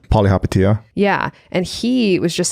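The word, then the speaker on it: Palihapitiya: Polyhapatia.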